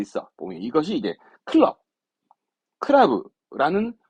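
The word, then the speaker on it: 倶楽部: 보면 이것이 이제 클럽, 크라브라는 발음을 의미 없이 갖다 붙여놓은 겁니다.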